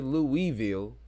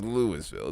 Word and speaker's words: Louisville: town I would say Louisville but it is pronounced as they pronounce it literally as Lewisville it's so weird like